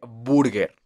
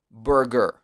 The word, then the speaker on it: burger: para los principiantes porque quieren decir burger y no es burger es como ese sonido tan atrapado en la garganta pero más que la garganta está en la lengua y en la parte baja en la boca burger ok basta boots